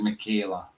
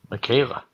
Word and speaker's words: Michaela: Sorry, not Michelle. Her name's Michaela. Michaela. Michaela, yeah. It's spelled like Michael, but with a A at the end. Michael, yeah, Michaela.